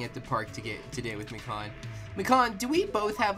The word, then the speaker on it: Mikan: It's Mi- gone. My Con. Con! There she is. Wow, she's Pronounced Mikan.